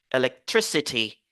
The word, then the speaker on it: electricity: trop mais on se focalise sur l'accent primaire electricity electricity ok et les mots qui ont i